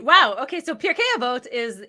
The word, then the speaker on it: Pirkei Avot: Tell us what Pirkei Avot. Mm-hmm. How bad did I say it? Pirkei Avot.